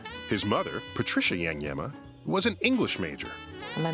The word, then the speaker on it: Iagnemma: Iagnemma. It rhymes with dilemma. His mother, Patricia Iagnemma, was an English major.